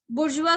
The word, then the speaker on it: bourgeois: It is not bourgeois, it is bourgeois. Now bourgeois जो है आपको recent में न्यूज़पेपर्स में बहुत ज्यादा कॉमन वर्ड हो चुका है, जो काफी ईयर्स से अब तो न्यूज़पेपर में यूज किया जाने लग गया है। सो you should know about it. इट इज a French word, इसीलिए इसका जो प्रोनाउंसिएशन है वो बोर्जुआ है।